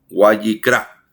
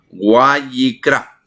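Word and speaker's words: ויקרא: o Guayikra, perdone usted, es W-A-Y y latina QRA, Guayikira, Guayikira, Guayikra. Así es la pronunciación. Estoy en vivo, así que estamos enseñando. Guayikra, Guayikra.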